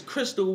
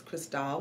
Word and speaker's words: Chrystale: on her name is Crystal how you doing today man this mic I always take the mic for people who pronounce my name wrong it's Kristal he talking about hip